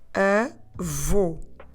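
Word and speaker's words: avô: word for grandfather is a vo I want you to put your lips round and forward as if you're going to whistle in order to pronounce the sound in terms of spelling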